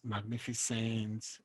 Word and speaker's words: magnificent: or e-n-c-e like magnificence magnificent quotient okay the stress is placed on the third syllable from the end for example magnificent i said words that end